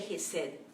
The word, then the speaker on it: Chesed: Se escribe Chesed, pero se traduce Gesed, amor leal, al pueblo de su pacto.